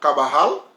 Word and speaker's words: Carbajal: Ça va dépendre nous mêmes, on le prononcer comme c'est espagnol, on doit le prononcer ou dit Carbajal parce que c'est J-A-L.